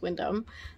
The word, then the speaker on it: Windham: we're at the Windham it's spelled Windham but I'm assuming it's Windom um look at the